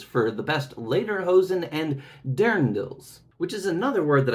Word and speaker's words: Dirndl: the best Lederhosen and Dirndls. which is another word that I didn't recognize, but it means that traditional dress that you see from that Bavarian type of region. It's apparently pronounced like Dirndl, and it comes from